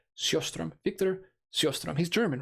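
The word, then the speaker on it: Sjöström: So it's pronounced Sjostrom. Sjostrom. See, that's what I used to say, but then I was like, maybe I should hit the hard J. Maybe I don't, I was hitting the S, but I guess I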